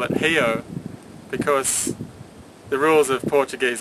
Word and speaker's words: Rio: it they call it hio because the rules of Portuguese orthography mean that an R is pronounced um like an H sound so it's actually H